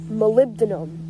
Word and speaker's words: Molybdenum: Molybdenum, that's how you pronounce it.